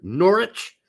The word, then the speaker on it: Norwich: Sergeant can't stop scoring did I say it right norch nor nor you don't pronounce W's so I saw I saw